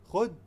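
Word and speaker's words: خود: When you're saying khud using D, just stick out your tongue and keep it in between your upper and lower teeth and say D.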